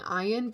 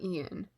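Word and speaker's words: Iain: it is ian reed i kept saying ayan because of the way that it's spelled um i don't know why my mind was just like that's definitely i and then not ian i guess it's ian uh i'm thinking of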